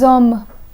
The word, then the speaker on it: hommes: The H in homme is an H muet, which means it allows a liaison. So the X in the word de, which is normally silent, becomes pronounced, and this word is read as deux hommes.